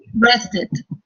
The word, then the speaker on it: rested: Entonces, como termina en T, ahí sí pronuncio la E. Entonces, ¿cómo lo dirías, por ejemplo, Angie? O Daisy? Rested.